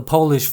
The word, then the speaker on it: Polish: I need you to polish the Polish furniture. 앞에 polish는 뭔가를 깨끗이 닦다는 뜻의 동사입니다. polish라고 읽고요. 뒤에 polish는 Poland, 나라 이름이죠. 폴란드의 형용사형입니다. Polish라고 읽습니다.